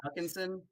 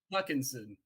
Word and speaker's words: Hutchinson: my boy TJ Hawkinson or how do you say huckinson I was trying to say how you say it I said huckinson Hutchinson that's right have I ever said